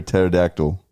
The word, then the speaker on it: pterodactyl: Why can't you hear a pterodactyl go to the bathroom? Cuz the P is silent.